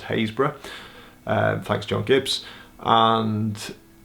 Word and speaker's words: Happisburgh: Happisburgh which I've since been told has actually pronounced haze bruh and thanks John Gibbs and I recorded a